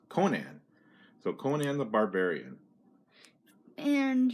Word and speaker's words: Conan: first uh go ahead king size con it's pronounced conan so conan the barbarian and here's who's writing